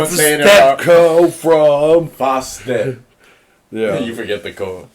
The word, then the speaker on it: Fostep: F-O makes the fo. Step makes the step. Co makes the co. Fostep.